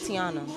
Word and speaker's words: Tiana: never say my name my name is tiana i'm gonna put that out there for y'all they can't say tiana so they go like tanana tanana and foreign it's just